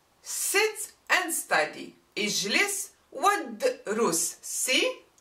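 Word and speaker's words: اجلس وادرس: But if I say sit and study, ijlis wadrus, see, I don't pronounce the u. I go all the way to the dal with sukun. Ijlis wadrus. I don't say ijlis wa udrus.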